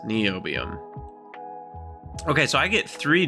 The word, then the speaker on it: niobium: like spell it phonetically like Bill NY the Science Guy niobium or like knees and ankles NE oium okay so I get